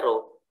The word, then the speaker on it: rho: Ya, jadi yang bentuknya mirip kayak huruf P ini, itu bacanya rho.